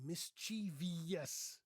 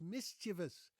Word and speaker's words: mischievous: Lots of people say mischievous. Mischiev. That's not mischievous. It's mischievous. Mischievous. Yes, the stress is on the first syllable.